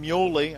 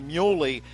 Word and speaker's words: Muley: a guy like nathan muley i apologize we had been told earlier that it was mule but apparently muley is the correct pronunciation hey he goes 6-3